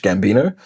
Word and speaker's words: Gambino: A huge influence is an artist called Donald Glover who went by a name of Childish Gambino. Um, but that's just word play because it rhyme with Dino.